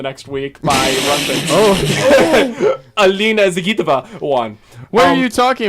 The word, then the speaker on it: Zagitova: That's actually the correct pronunciation, by the way. Evgenia Medvedeva Yeah, and Medvedev. Alina Zagatova. it's Zagitova, actually.